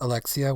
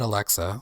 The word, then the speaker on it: Alexia: That says Alexia, which is just how you pronounce their name, who is Alexia. Alexia, yeah. I almost said Alexa. Whoops.